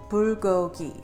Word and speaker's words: bulgogi: I'm going to teach you how to phonetically pronounce this okay so it's pour go eat bulgogi so some of my Korean American friends that